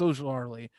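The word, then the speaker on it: Ojulari: And honestly, Ojlari, and I keep saying it wrong, it's Ojlari, has had some great highlights.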